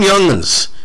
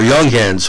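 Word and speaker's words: Younghans: for that series but tom youngman's or young hands whoever you want to pronounce it either way you're pronouncing one of the best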